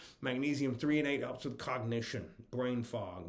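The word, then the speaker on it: threonate: o n a t e 3 and8 it's pronounced magnesium 3 and8 helps with cognition brain fog memory cognition thinking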